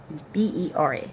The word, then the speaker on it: Bera: B e r b e r a.